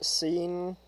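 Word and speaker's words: Cyn: sin waking up alone I pronounce her name is scene because like uh that way like it it sounds less like s-i-n and more like c-y-n scene confused and scared in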